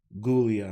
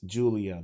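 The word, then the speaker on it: Giulia: Io, Rhea versus Gulia and Perez. I know it's Julia, but she fights like a ghoul, so I'm calling her Gulia.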